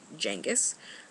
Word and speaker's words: Genis: named Jen Jenis Jenis spelled genis but pronounced Jenis uh like Jenga apparently I don't know